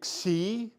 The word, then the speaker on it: Xi: So it does have a little bit of a K sound in that, but it's more these two put together.